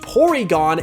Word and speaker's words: Porygon: reason why it's pronounced porygon instead of polygon is actually a reference to how japanese people pronounce their l sounds as r sounds so stanler is found